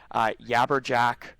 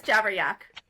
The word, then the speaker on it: Jabberyak: Maybe they just talk about their yabberjack thing. Did I mispronounce it again? It's jabber. It's jabberyak.